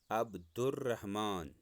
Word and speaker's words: عبدالرحمن: ساتھ پڑھنا ہے، جیسے عبد الرحمن، میں نے اوپر لال رنگ کے ساتھ لکھا ہے اس کا تلفظ عبدالرحمن. اس کو ہم عبدالرحمن نہیں کہہ سکتے، عبدال نہیں، عبدالرحمن.